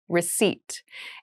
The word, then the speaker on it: receipt: meal room service meal receipt receipt receipt receipt has a very interesting spelling there is a p in the spelling of this word but we do not pronounce it the pronunciation is receipt a receipt is a